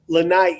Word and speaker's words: Lanai: Lanai, it's two I's. You pronounce the second I.